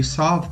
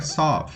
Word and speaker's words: solve: How will you solve that? Outro exemplo de silent letter é solve, porque o L não é pronunciado, não é solve, é solve.